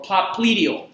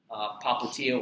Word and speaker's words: popliteal: Or popliteal. There's a couple different ways. I've heard it pronounced either way. Popliteal or popliteal.